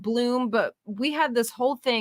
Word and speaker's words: Blum: It's spelled Blum, Pamela. It may be pronounced Bloom, but we had this